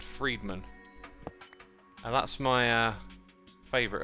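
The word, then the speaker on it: Fridman: lex lex and then it's spelt friedman but it's said friedman and that's my uh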